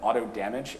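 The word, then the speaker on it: AutoDMG: like to note that auto damage is how pair himself has indicated he wants it to be pronounced i myself have nothing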